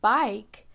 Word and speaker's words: bike: And if I want to write bike, I know ba-I-k. And I know that I need to use I and silent E at the end when I'm writing bike, or a word that has a long I sound in it.